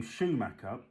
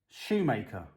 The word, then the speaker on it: Schumacher: Now, whilst we're on the name Schumacher, in the UK, I want your opinion. Everyone, if you can, please. In the UK, we pronounce that, well, it's Schumacher Racing.